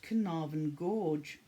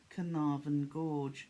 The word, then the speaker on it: Carnarvon: beautiful then we've got canarvan gorge and that's appreciation carnavan gorge that was very easy to pronounce because we have a town in north wales by the name of carnarvon then we have cassowary